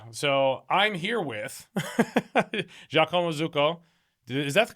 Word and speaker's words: Zucco: So I'm here with Jacoma Zuko. Is that the correct pronunciation? Jako. Jako is perfect. Zuko is a little bit more the the C is double. Zuko Zuko.